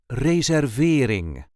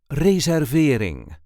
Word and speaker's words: reservering: This is the way we say reserveing raering. There is a light emphasis on the third syllable raering. Reer ving reserveing.